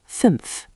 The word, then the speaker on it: fünf: Five is fünf, five. The ü is rounded, like you're whistling a little, fünf.